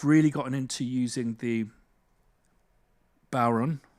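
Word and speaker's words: bodhrán: gotten into using the baron it's apparently the way to pronounce it is Sauron but with a B nice poweron um uh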